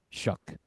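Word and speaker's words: Shough: Saints rookie quarterback, Tyler I'm always saying it wrong. It's Shuck.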